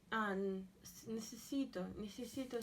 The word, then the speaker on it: necesito: And Necesito. again, I wonder if you can remember that. Necesito. Necesito. So we have ne, se, si, to. 4 syllables.